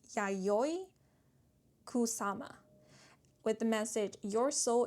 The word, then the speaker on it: Yayoi Kusama: Um, but we have Yayo Kusama. I actually want to make sure I'm pronouncing the names correctly. So, I believe it's pronounced Yayoi Kusama with the message, "Your